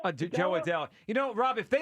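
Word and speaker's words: Jo Adell: But I'm like, you know what, that outfield with Ward and how do you pronounce Adele? Joe Adele.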